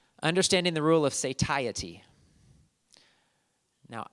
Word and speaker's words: satiety: Now, I actually did a search on that word and went to different websites that pronounced it because I didn't know how to pronounce it. So there might be other ways to pronounce it, but that's how they said it, satiety.